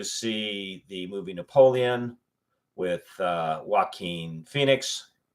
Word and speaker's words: Joaquin: the movie Napoleon with Joaquin Phoenix. Actually, the name is pronounced Joachim, but I'm not telling anybody how to pronounce their name. It's an old European name.